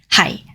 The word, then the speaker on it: 係: Hai is a low, flat tone, low level tone.